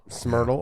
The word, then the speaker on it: SMRTL: Dan, how do you say his name? Eichner, who runs the SMRTL lab. Smyrtle. Okay. Just Smyrtle lab. It's called Smyrtle.